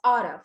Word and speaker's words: ought to: In spoken English, native speakers often pronounce ought to as oughta.